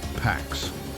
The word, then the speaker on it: P4x: prosecutors, he invented a name, P4x, pronounced Pax, the Latin word for peace, a quiet joke, peace forced at the point of a keyboard.